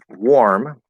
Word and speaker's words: war: was thinking of or warm okay also the word war war which is it's going to be pronounced exactly like this word which is the past tense of wear um so you wear